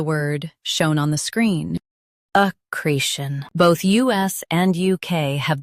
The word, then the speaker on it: accretion: Accretion. Both US and UK have the same pronunciation of this word. Stress. Cre. Keep shin soft and quick.